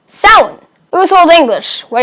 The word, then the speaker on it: Samhain: So that looks like Samhain, right? But it's actually pronounced Samhain.